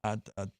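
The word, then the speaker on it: Adonai: And uh Dante or whatever, how do you pronounce his last name? Adon Adon Mitchell.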